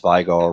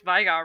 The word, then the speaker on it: Veigar: everybody says i pronounced vigor wrong i pronounced to leo wrong how do you pronounce veigar wrong because this sure is hell not vegar that's what everybody says